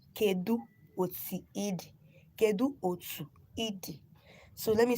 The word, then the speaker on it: Kedu otu idi: If somebody wants to ask you how are you in our dialects, the person will say Kedu Otiidi. Kedu Otiidi. Kedu Otu Idi. So let me spell it again for those that are coming live now.